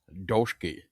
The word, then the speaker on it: Dulski: Dulski. Dulski. I was going to say Dulski. I knew it. I knew I was going to mess it up. Anyway, Paul Dulski, and you are from Haunted Vermont.